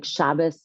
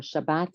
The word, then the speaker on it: Shabbat: Like Shabas or Shabbat are the same thing. They're just pronounced a little differently.